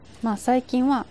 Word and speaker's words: 喫茶店: これは、きっさてんと読みます。 इसे "किसाटेन" पढ़ा जाता है। 喫茶店は、カフェのことですね。 “Kissaten” means a cafe.